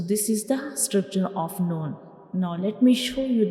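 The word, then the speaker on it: ن: The noon is pronounced when we touch the tip of tongue to the gums behind up front two teeth.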